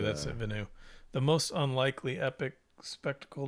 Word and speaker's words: Villeneuve: Villeneuve, that's it, Villeneuve.